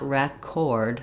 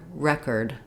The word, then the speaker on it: record: The letter E is going to say E. It's going to follow the spelling rules. But the second syllable is unstressed. Letters O R are not going to say or. It's not record, but rather record. We're going to have a short reduced unstressed syllable.